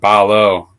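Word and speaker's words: 발로: There's a pronunciation change going on too where the two following each other turns into a very close to an L sound. Balo in English.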